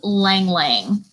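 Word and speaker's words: Ylang Ylang: Our last and definitely not least, because this oil, it's amazing, is Lang Lang. It is spelled Y-L-A-N-G. Y-L-A-N-G. It's 2 words.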